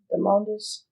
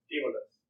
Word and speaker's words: Demodus: I'm going to once again yell, Demondus. Demodus. Oh my god. You were close.